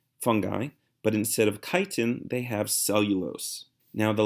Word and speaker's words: chitin: durable carbohydrate called chitin you don't pronounce the ch but it's chitin and fungi don't have